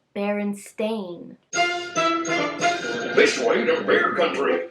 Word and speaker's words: Berenstain: the book is the berenstein bears and that's how everybody remembers it and how people pronounce it however it is called the baron stain bears with an a what and i can't